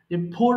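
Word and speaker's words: poor: ফ এরপরে ফোর ঢালা ফোর মানে গরিব পি ডবল ও আর সেম উচ্চারণ এটা হচ্ছে ফোর ফোর ঢালা ফোর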